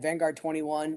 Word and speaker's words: Vanguard XXI: Vanguard 21. It's the Roman Roman numerals for 21.